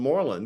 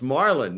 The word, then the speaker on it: Marlon: I first met Marlon I always called him Morlin because that's how it's spelled and then he corrected me that it's Marlin named after Marlin Brando and sometimes we just